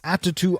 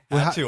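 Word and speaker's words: Attu: you shaking your head did I pronounce it wrong yeah ATU Island at how do you say ATU it's you said it like attitude nature and foul obsessed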